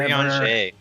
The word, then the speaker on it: Urianger: Urianger. Okay. Like French.